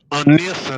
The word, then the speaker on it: Nessah: Eh, Anessa, não é isso a pronúncia?